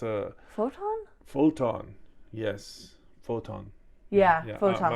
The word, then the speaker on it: Photon: Spell it. It's PHOTOM. Phantom. Huh. Yeah. It's a photon.